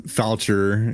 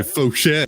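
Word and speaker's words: Faucher: Yeah, I get that's like Calvin Foucher, is actually Fauché.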